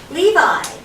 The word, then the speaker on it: Levi: Levi. Levi. You know, like the jeans.